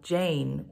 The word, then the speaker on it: Yein: Jane Jane is spelled Y ein but pronounced like Jane with a y Jane is actually a two syllable name yeh means bright and